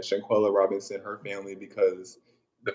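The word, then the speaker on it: Shanquella: to shanguela I'll go say her name right shankwilla Robinson her family because the fact that the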